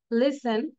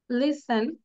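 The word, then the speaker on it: listen: শুনবো বারবার ওকে দেন সাইলেন্ট টি after S এস এর পরে যদি টি থাকে সেটা সাইলেন্ট থাকবে বাট সবসময় না কিন্তু castle উইসেল Rachel hassle Nestle এটা হচ্ছে Nestle ব্রেসেল Rasel জয়সেল passion লিসেন ময়সেন one more time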